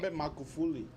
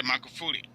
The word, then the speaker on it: Magufuli: I'm not pronouncing the last name very well. Magufuli. Yeah, Magufuli.